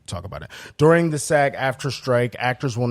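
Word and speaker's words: SAG-AFTRA: this first geez um sag after that's how you say it yes right is officially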